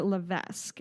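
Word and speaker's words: Cassandra Levesque: there was a young woman uh named Cassandra lavesque is how I'm going to say her name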